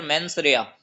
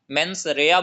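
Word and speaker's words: mens rea: टू बी a clear मेंस रेया. मेंस रेया बोलेंगे इसको. लेटिन वर्ड है MENS स्पेस REA.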